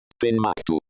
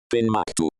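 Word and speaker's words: Ben Macdui: Ben MacDoo. Ben MacDoo. So it is do at the end.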